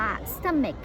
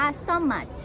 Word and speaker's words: stomach: ค่ะ ทำ นี่ ค่ะ เสม็ด เค้ก อ่าน ว่า เสม็ด ถ้า ใคร ยัง อ่าน ว่า ส้อม much อัน นี้ ผิด เลย นะ คะ ต้อง แก้ว เลย